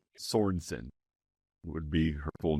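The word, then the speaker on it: Sornsin: So, there's no there's no E in there. Like Swedish. It's not Swedish. All right. Sornson.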